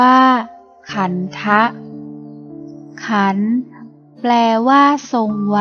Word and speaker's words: ขันธ์: ก็ คิด พุทโธ ขันธ์ ภาษา บาลี อ่าน ว่า ขันธะ ขันธ์ แปล ว่า ทรง